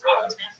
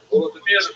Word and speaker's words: Volodymyr: What's especially important in its history is the version of one of its leaders, Volodymyr, pronounced in Russian Vladimir, shown here in a statue overlooking the Dnipro River that runs through the middle of Kiev. Volodymyr made a decision to convert to Christianity.